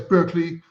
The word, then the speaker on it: Berkeley: to live in Barkley we pronounce it Barkley in the UK but it's of course the original Place Berkeley you know Berkeley um